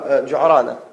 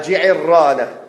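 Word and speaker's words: الجعرانة: wa sallam était à Ju'rana. À Ju'rana. Et Ji'irrana, نعم. بكسر العين وتشديد الراء. بارك الله فيك. À Ji'irrana. Donc il a dit la bonne manière de le prononcer, c'est ça, c'est Ji'irrana.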